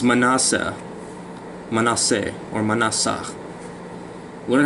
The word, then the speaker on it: Manasseh: It's Manasseh.